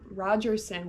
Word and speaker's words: Rogerson: Rogerson, why can't I say her name correctly? I'm putting a T in there for some reason.